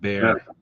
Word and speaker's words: Bexer: It's pronounced bear.